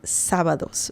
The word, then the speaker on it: sábados: So yeah, you can just say sábados. Remember the accent mark on top of the letter A. That is important to remember. And the pronunciation sábados. Sábados.